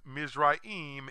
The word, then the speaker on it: Mizraim: Today, Egypt wears the English name of Ham's second-born son, whose name is pronounced Mizraim in Hebrew, but Egypt in English.